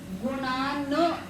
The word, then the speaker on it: गुणान्: वक्तुं के बाद में गुणान ऐसा पूरा नहीं करना है। न के नीचे देखो हलंत लगाए कि नहीं लगा है ना, तो आधा उच्चारण करेंगे।